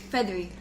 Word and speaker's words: Fethry: I'll never pronounce it it's feathery feathery like feather okay when he was